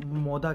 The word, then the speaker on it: Moda: तो मोड़ा basically Italian language में वो मोदा कहते हैं। डी को जो ये लोग प्रोनाउंस करते हैं वो दी है, डी को ये दी कहते हैं, तो ये बनेगा मोदा।